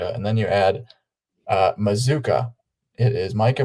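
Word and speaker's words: Mazzccua: pronounce it no way C UA and it's pronounced Mazuka offerson say mazooka and it's spelled Maz Kua and I was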